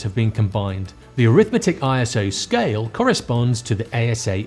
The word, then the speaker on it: ISO: The correct way to pronounce it is ISO. I thought it was ISO as in an acronym, but I got this wrong.